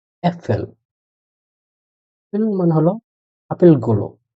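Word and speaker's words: Äpfel: আ umlaut দিয়ে যেটার উচ্চারণ এ, ওটা দিয়ে একটা আছে আ umlaut এ এফ এ এল, উচ্চারণ হলো অ্যাপেল।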